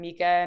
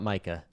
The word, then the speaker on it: MiCA: and you guys say Mika not Micah excuse me I don't know maybe Patty will correct me but what is the right pronunciation give it to us I've always I've always said Nika Mika all right I also say Mika because it's markets in crypto assets ah consensus we're already